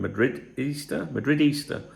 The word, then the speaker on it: Madridista: Madridista. Easter. Sounds like Easter, doesn't it?